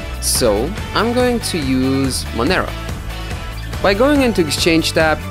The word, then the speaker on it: Monero: i know it should be mon arrow it should be monero but i don't know i like saying manero and of course cryptocurrency is a free world so no one will shank you're gonna pronounce monero as monero i hope now while